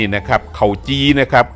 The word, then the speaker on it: เข่าจี่: ว่า เข่า จี ครับ คำ ว่า เข่า จี ออก เสียง ว่า เข่า จี เข่า นี่ ก็ คือ ข้าว นี่ ครับ จี กับ ปิ้ง ย่าง นี่ แหละ นะ ครับ เข่า